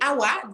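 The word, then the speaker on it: Hawa: Alors, mon nom, c'est Awa, donc c'est Ève tout simplement. C'est la première femme du monde. C'est Ève, en Afrique. C'est Awa, on peut dire Eva, Awa, qui s'écrit de plusieurs façons. Moi, c'est H-A-W-A, mais il y a d'autres qui l'écrivent A-W-A, A-O-U-A.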